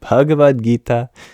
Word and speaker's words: Bhagavad Gita: know yourself is that the H is there for a reason it isn't just any voiced labial consonant it is an aspirated